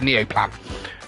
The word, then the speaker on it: Neoplan: sorry my nose is twitching um yeah the Neo plan the neoplan Skyliner that's how you pronounce it which is a which is a